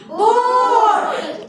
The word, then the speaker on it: boat: तो अपना ही मम्मी है ना, तो ए साइलेंट हो जाता है और जो ओ है वो अपना ही नाम पुकारता है, ओ ऐसा बोलता है। तो जैसे कि दो कॉन्सोनेंट के बीच में ओ पहले ओ फिर ए, COAT कोट, BOAT बोट, GOAT गोट होता है ना ऐसा?